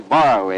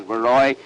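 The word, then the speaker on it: Borowy: The cab driver that I came out here with insisted on calling Baroy Barroy, and I told him no, that the name properly pronounced was Baroy.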